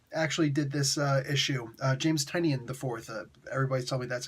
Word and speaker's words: Tynion: James Tynion IV actually did this issue. James Tynion IV. Everybody's telling me that's how you pronounce his name.